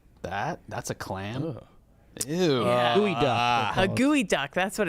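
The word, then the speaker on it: geoduck: That's a geod duck. That's a geod duck. It's pronounced gooey duck.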